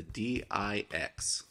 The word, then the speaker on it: DIX: today we're going to be looking at the d i x pronounced d i x other people pronounce it different